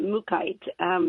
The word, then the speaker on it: mookaite: I've heard it pronounced multiple ways but I pronounce it mookaite but I've heard people say Mook Mookie ight